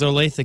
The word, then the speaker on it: Olathe: Kansas Olathe right went to high school it's Olathe Kansas oh you know somebody that went there